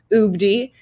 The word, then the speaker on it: UBD: I'm the co-founder and CEO of UBD, is actually how it's said, but it does stand for Universal Basic Data Income.